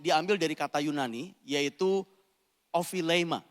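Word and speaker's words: ὀφείλημα: Bapak Ibu, kata kesalahan ini diambil dari kata Yunani, yaitu ophilema. Jadi bahasanya itu kalau pronounce-nya itu saya cek tadi pagi, ophilema cara bacanya.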